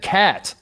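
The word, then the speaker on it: KAT: he goes i said cat carl anthony towns and my question to you charlotte is this is that are are is cat that ubiquitous did we just call him cat like i understand that's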